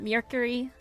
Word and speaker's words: Mercury: And apparently it's not Mercury. It's like myrrh instead of a mirror sound, but I always default to that.